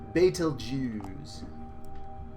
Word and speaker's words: Betelgeuse: Ryan okay now it's if you say it correctly its fatal Jews they don't use and